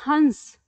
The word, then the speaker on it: हंस: आप आपको पता चल गया जब आप इसका उच्चारण करते हैं तो आप इसे कहते हैं हंस ठीक है क्या कहते हैं हंस यानी जब